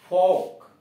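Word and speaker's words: folk: सब में देख रहे हैं यल साइलेंट कर दिया गया है। फोक, एफ ओ एल के, फोक, जन समूह।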